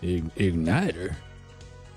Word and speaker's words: igniter: looks like this the igniter you mean it's like a lighter it's like unobtainium your honor yes it rhymes with lighter you're not saying this